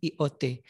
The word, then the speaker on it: IoT: Jadi jangan dibaca lot ya. Jadi ada juga kemarin kawan yang membacanya lot. Padahal ini kan IoT, Internet of Things.